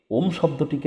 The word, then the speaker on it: ওম: ওম শব্দটিকে আপনারা তিনটি ভাগে ভেঙ্গে নিন। ও অ আর ম। ও অ আর ম। ও এর উচ্চারণ নাভি থেকে। অ এর উচ্চারণ গলা থেকে। ম এর উচ্চারণ মাথা থেকে।